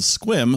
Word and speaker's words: Sequim: We're going to a similarly confusing place in a little bit called Squim, spelled Sequim. I definitely said Sequim the first time when you looked at me like, yeah, what?